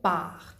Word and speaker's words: partent: Nous partions, vous partiez, ils, elles partent. Attention que NT ne se prononce pas dans les verbes.